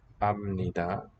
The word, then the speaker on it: 압니다: The root is al. Alda, to know. We would expect al sumnida, as I said, but instead we get amnida. So this allomorph. And then a sound change rule, a sutra applies. It says, in this case, get rid of the L.